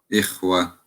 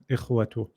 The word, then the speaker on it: إخوة: Ikhwa, إخوة إخوة أحسنت brother Dawood. أجا أجلا أجلا أحسنت. خا No, not خا. إخ. إق إقوة أحسنت. Even though إخوة you haven't read them all. Well done. إخوة.